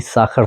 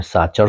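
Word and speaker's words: Sacher: हो सकता है आपने साचर सुना हो क्योंकि मुझे पता है इंडिया में उसको सब लोग साचर कहते हैं लेकिन उसका असली प्रोनाउंसिएशन जो है उच्चारण साखर है जर्मन में सी एच को खा प्रोनाउंस करते हैं तो वो साखर होता है और यह केक सबसे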